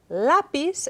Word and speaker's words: lápiz: Lápiz, and the stress is not in the final syllable like and it ends in usually. a consonant other than NRS. So we need stress on the A.